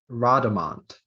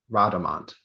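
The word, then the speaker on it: rodomont: Your word is Rhodamont.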